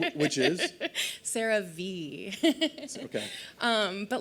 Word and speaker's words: CeraVe: How you pronounce a brand name, which is CeraVe.